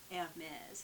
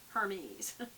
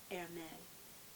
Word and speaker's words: Hermès: Twilly d' Hermès. It looks like Hermes, but it's Hermès. Hermès. But you do pronounce the S but as a Z.